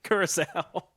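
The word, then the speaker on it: Curaçao: 4th place, aside for me, that you didn't even mention, Curacao. Didn't mention it because I didn't know how to pronounce it. I was calling it Coco, but yeah, Curacao for me to finish 4th.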